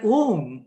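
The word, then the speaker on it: ॐ: Now, when the first of all, A is pronounced with mouth open. U is pronounced mouth half closed. Ma is pronounced with mouth fully closed.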